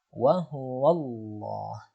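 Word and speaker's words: وَهُوَ اللّٰه: Misalnya pada lafal wa huwallah, wa huwallah, wa huwallah. Nah, di situ sebelum lafaz Allah ada huruf waw berharokat fathah, maka lafaz Allahnya dibaca tebal. Ya, seolah-olah ada pelafalan huruf o ya.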